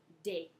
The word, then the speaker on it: des: the plural indefinite article des des des pronounce date okay in English we